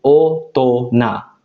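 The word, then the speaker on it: 大人: Nah, ini spesial cara bacanya. Ketika kanji besar ditambah kanji orang, hito, dia spesial cara bacanya. Jadi orang yang udah gede kan ya, minasang, cara bacanya spesial, yaitu otona.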